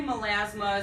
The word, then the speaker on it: melasma: who wants to know about, I'm going to pronounce this wrong, so pardon me, melasma?